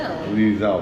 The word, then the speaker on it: Liesel: Liesel, that's right, Liesel. I always want to say Leslie.